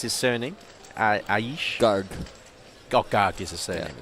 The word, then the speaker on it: Garg: So how would you pronounce his surname? Aish? Garg.